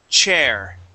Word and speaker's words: chair: Okay, first off, we are going to practice the CH sound, okay? The word is chair. Okay, one more time. Chair. Sure. Okay, much better, okay? Just remember, there is a difference between SH and CH when we pronounce those. The CH, we stop the airflow.